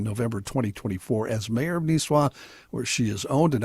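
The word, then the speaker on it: Nisswa: John, just cuz you're going to get emails, it's pronounced Nisah. Niswah. Really? I've always said Niswah.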